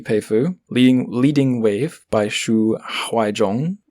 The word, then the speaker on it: Huaizhong: Leading Wave by Xu Huaizhong. Almost said Haizhong there, but it's not, it's Huaizhong.